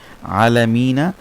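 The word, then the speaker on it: الْعَالَمِين: আলিফ হয় মধ্যে আরজি হয় কিছু তখন এটার উচ্চারণ হবে আলামিন তিন আলিফ হবে আলামিন আলামিন আলামিন ঠিক আছে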